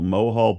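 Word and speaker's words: Mohol: to pronounce it oh pronounce it mohal m o h o l mohal bush baby it's got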